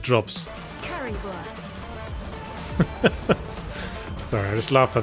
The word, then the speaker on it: Currywurst: I got a Curryverse drops. Currywurst. Sorry, I just laughed by the way she pronounced Curryverse there.